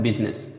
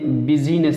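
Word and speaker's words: business: आई से साइलेंट में केवल एक शब्द है जिसमें साइलेंट होता है, वो है बिजनेस, ठीक है। अब इसमें देखिए बिजीनेस नहीं पढ़ते हैं, बिजनेस, आई साइलेंट हो जाएगा इसमें, ठीक है ना।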